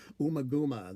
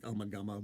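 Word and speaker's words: Ummagumma: call it umaguma now i've heard different pronunciations like omagama but i think it's umaguma but to call the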